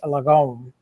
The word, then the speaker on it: Lagom: This one in particular is Swedish and it's Lome is how you pronounce it.